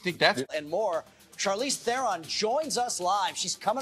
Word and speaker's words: Theron: Yeah, it's Theron. Like Baron.